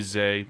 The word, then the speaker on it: Zay: the correct pronunciations because he called Za Frazier in the press conference. Clearly Zay, and I made that mistake recently on Bears Country Podcast.